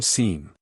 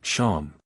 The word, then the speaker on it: Seam: The name Seam, pronounced Sham, and this is my little seep.